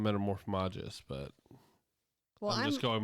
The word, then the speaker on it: Metamorphmagus: metamorphagus. What? Isn't that what metamorphagus? I think they call him Metamorphmagus, but Well, I'm just